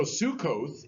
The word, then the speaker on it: Sukkot: the soup crock so Sukkot is the Hebrew pronunciation of that and the reason I